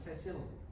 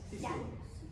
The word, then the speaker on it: Cecil: Misalnya Mbak Cecil, sebagai seorang staf. Oh, Sisil. Sisil. ya. Oh iya, maaf, pronunciation-nya.